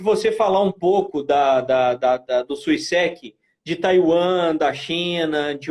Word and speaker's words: Suiseki: A pronúncia no japonês, ela é reta, como a maioria das palavras. Não tem aquele acento em sílaba nenhuma. Né? Suiseki. Suiseki.